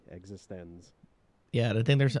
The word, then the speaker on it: eXistenZ: And you have to say it like that. Capital X, capital Z. eXistenZ.